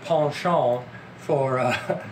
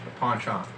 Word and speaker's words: penchant: intelligence characters with a penchant for... nicely phrased. That's actually a valid pronunciation of penchant. That's completely valid. Thank you. It's British. Because, well, I guess it's French by way of British, but penchant.